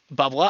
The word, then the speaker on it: bubbler: I do have something of the regional accent. Bubbla. I do say bubbler. That is true. I I try to pronounce the letter R.